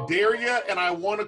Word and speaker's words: Darragh: Because you said Darragh, and I want to call you Henry Darragh. Yeah, I'd say I dare you to forget how to there pronounce. We go. I dare you to forget. Like O'Hara.